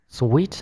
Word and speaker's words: suite: Còn cái từ này chúng ta đọc là suit. No choice but to found a suit. I got a suit out of the closet. It wasn't mine. It was too big. It looked weird. Đó, cái từ này chúng ta đọc là suit. Này là sweet. Suit.